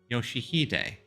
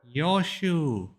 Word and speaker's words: Yoshihide: No, that's not how you read those letters. 요시대라고 읽는 거다. Yoshihide, that's how you say it. 요슈! Yoshu.